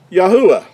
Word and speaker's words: Yahuah: give us the ah Yahoo ah would be how the Creator's name is pronounced now this is a